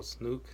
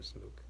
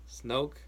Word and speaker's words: Snoke: Oh, Snook. I'm sorry, Snoke. I can never say his name right. Snoke.